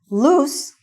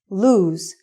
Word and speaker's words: lose: Loose is an adjective which means not tight. And lose is the opposite of find. Okay? Did you lose your cell phone? Also, the pronunciation is lose and not loose.